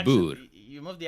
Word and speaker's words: Boer: But like she can't say boor. Like she can't roll her R's. Boor. Yeah, there you go. You can because you roll your R's quite frequently, just in normal speech. Yeah, whereas she can't do that. It's like the Americans, they say boar. I'm like, no, it's oor.